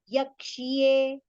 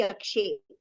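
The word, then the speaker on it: यक्ष्ये: Yakshye, ksha, kshatriya ksha, and ya should be heard here, over here. It should not be yakshe.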